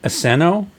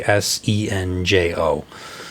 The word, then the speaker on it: Asenjo: Christina Aseno, or Asenjo? I'm not sure how to pronounce it. It's Asenjo.